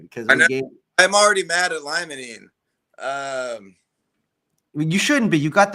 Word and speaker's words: limonene: You got 2 out of the 3, but it is limonene, and pinene would be the 4th most dominant.